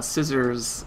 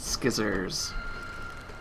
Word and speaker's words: scissors: fun so no uh scissors is not pronounced skizzers and you're by the